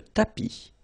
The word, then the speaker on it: tapis: Remember final S not pronounced. Le tapis, le canapé, la bibliothèque.